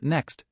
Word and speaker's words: NECST: To light the law of Effection and illuminate your FastLane road, cross-examine it against the 5 FastLane commandments NECST, pronounced next.